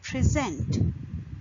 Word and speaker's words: present: For example, in present, if you put stress on the second syllable, which is zent, then it will become present.